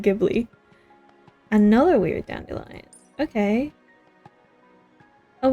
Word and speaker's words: Ghibli: Do you pronounce it Giblly or Jibli? I know Ghibli is technically right, but I don't like it, so I still call it Gibli.